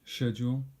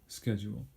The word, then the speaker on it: schedule: There are two pronunciations, British schedule, American schedule. Doesn't matter which one you use, they're both fine.